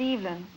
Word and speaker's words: Evelyn: Well, I pronounce it Evelyn.